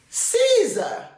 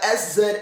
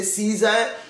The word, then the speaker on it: SZA: to pronounce another name Caesar I usually just said I usually just call her as uh s Za a it's easier for me to say s Za than to say Caesar the the abbreviated names